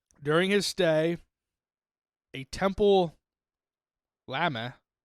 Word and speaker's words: lama: It's So it's spelled Lama, like llama, but it's lama. It's like so it's like somebody from Massachusetts is saying llama.